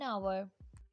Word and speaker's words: hour: An ice cream, an orange, an hour. Notice the word hour as H is silent here.